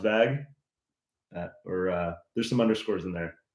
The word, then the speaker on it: VAGUH: So yeah, it's pronounced VAGuh.